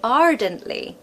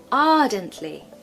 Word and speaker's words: ardently: told you before that we don't pronounce the r especially if it comes in the middle of the word or at the end we generally don't tend